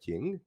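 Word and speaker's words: 京: to do with patterns that sounds roughly like Jing so that's how it makes up being shadow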